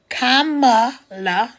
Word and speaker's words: Kamala: We got a unique situation right now because Kamala, comma, and then la. So it's just like if you had a comma and you put a la at the end of it. That's how you say her name.